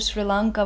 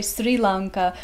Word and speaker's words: Sri Lanka: with the local, and I always thought that you're supposed to say Sri Lanka because that's how you say it in English, but luckily you told me that it's Sri Lanka, that's the correct word.